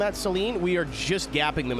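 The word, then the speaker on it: Saleen: And then Seline. Yeah. Yeah, that's how I've always said it. Some people say saline, but I I think that's what you put in your eyes.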